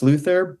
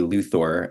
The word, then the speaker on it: Luthor: so it might actually be Lex Luther but I think he would correct people to be luor as kind of like a